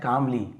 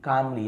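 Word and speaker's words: calmly: Patiently यानी धैर्यपूक सब्र से ऋषि ने धैर्यपूक सुना एंड देन सेट कामली कामली यहां पर भी एल साइलेंट है।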